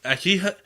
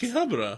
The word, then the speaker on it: Akihabara: pronounce in the They're English like, it's like, Akibra.